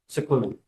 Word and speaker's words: Sikorski: Sikorski. Okay, it's pronounced as if it was S I C.